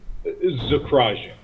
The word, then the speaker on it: Zakrajsek: How do I pronounce that, Hello, sir? Zakrajsek.